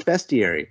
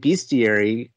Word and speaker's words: bestiary: So I looked it up, and no, it's bestiary. But I've been saying bestiary this whole time because I associated it with monsters and beasts.